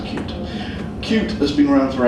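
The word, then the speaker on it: Qt: in WebKit spots into something called cute cute cutie pronounce cute cute has been around for ages as a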